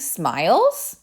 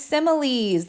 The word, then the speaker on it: similes: But you may see this word up here and think smiles. But no, it is similes. That's how you pronounce this word.